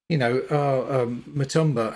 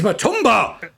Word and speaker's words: Matumba: But yeah, and she insisted that you had to pronounce it. You had to say Matumba. And one of my colleagues at the time said, Matumba, and she went, "That's not my name. My name is Matumba."